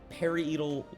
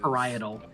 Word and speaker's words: parietal: I I'm hope I pronounced this right. Get it. Um, it says periodal lobe inactive.